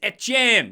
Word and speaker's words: Etienne: Just like Trevor Etienne, it's Etienne. That's how it's pronounced. You're from Louisiana. It's a French colony. You say it French. That's how it works, okay?